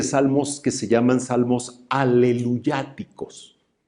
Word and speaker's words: aleluya: el tiempo de la palabra aleluya aleluya así sería propiamente la pronunciación hebrea aleluya es una palabra